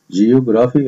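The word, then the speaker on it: Geography: جيوغرافي, الجغرافيا. الجي الأولى بتنطق جي والجي التانية بتنطق جا, وعندي ال PH بتنطق فا, تبقى جيوغرافي, الجغرافيا.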